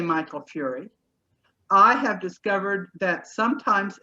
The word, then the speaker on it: Fury: I also say Michael Fury. I have discovered that sometimes in the census his name is spelled F-U-R-Y and sometimes it is spelled F-E-R-R-I-E.